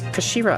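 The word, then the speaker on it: 頭: he's written as head in Japanese but it's pronounced as Kashira I believe Shira so Mr asoki's pores really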